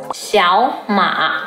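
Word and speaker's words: 小马: Both of the characters are third tone, but when two third tones are together, the first third tone becomes the second tone, so Xiaoma becomes Xiaoma.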